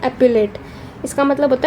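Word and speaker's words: epaulette: एक सेकेंड में देखती हूँ इसको प्रोनाउंस कैसे करते हैं। हाँ, इसको बोलते हैं एप्यूलेट, इसका मतलब होता है शोल्डर ऑर्नामेंट।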